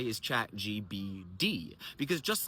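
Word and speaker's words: ChatGPT: And so the reason we say ChatGBT is because we're already in the middle of a voiced phrase.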